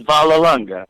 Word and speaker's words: Vollelunga: name is it Vol longa how do you pronounce it that that was pretty good yeah it's it's valal longa Vala say like you're Italian there you go